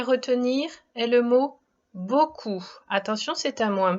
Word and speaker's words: beaucoup: On retrouve le son OU que tu connais bien. Et il faut se rappeler de la lettre P qui dans ce mot est muette. Le mot outil est donc le mot beaucoup.